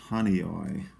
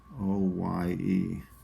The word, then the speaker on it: Honeoye: This one is called, I believe it's pronounced Honeoye. Honeoye. I apologize if I'm mispronouncing any of these, but I think that that's how you say it, Honeoye.